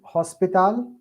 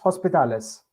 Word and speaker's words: hospital: It's going to put together the end of L is going to join to O without H.